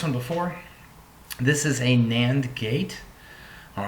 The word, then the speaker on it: NAND: So it's pronounced a NAND gate.